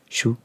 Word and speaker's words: sju: I know that spelling is crazy, but it's, I believe, pronounced shu.